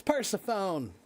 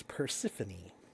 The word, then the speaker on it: Persephone: It's Persephone. That would be the American way to pronounce it, but the proper way is Persephone. The Greek way.